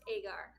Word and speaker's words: Agar: you for having me we're so excited it's pronounced agar agar okay now we got it down i